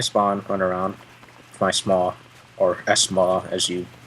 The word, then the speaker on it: SMAW: It's like small. It's one word. Where's the extra syllable coming from? I understand that there's an S there, but that doesn't mean you have to say it.